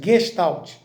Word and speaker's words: Gestalt: Essa palavra vem do alemão, né? Daí essa pronúncia, Gestalt, que não tem nada a ver com a Gestapo.